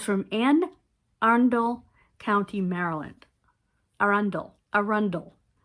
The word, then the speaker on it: Arundel: Arundel. That's how you say it.